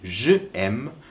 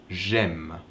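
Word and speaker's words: J'aime: I like you say you don't say JM because it's hard to pronounce so that's why that apostrophe is there so it's easier to pronounce Jim so you only drop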